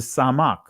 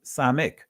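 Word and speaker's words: סמך: You have a separate letter that makes a s sound, and that is the samak. In the Israelis, samek.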